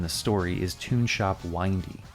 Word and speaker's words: Windy: story is Tune Shop Windy. I think this is pronounced windy. Makes more sense than windy, what with all the winding roads and all.